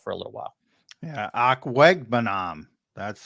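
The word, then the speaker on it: Okwuegbunam: Yeah, Akwegbunam. That's how there you go. Pronounce. I have to look at it. Akwegbunam.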